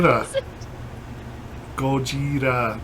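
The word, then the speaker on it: ゴジラ: Gojira. What was it? Gojira. It's the Japanese pronunciation for Godzilla.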